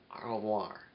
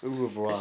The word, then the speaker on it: au revoir: Au revoir.